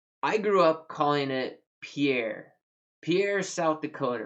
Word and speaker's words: Pierre: imagine it is not pierre even though it is spelled pierre and if you ask any frenchman it's pierre no talk to a person from south dakota